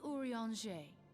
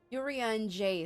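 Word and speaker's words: Urianger: whenever you have questions urea and Jay sounds like the word for like an orange tree in French which is even the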